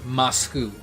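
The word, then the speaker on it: マスク: is a true story the way you say mask in japanese is masku that's how you say it i don't know the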